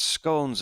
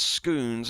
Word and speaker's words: scone: Richard Launge says, on the earlier point of living in Wiltshire, how on earth they pronounce scones as scoons is beyond me. Who mentioned Wiltshire? Don't think we have, have we? Scone, isn't it?